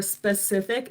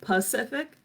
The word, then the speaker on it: Pacific: a lot too but sometimes people might say um Pacific or specific instead of Pacific so a lot of the times um working on pronouncing your words like that so the Pacific Ocean instead of the specific ocean um so this can